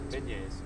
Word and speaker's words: beignets: How do you pronounce that thing? Beignets.